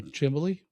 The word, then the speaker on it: chimney: A thermal chimbley? Chimbley effect. That's the Schuylkill County pronunciation of chimney is chimbley.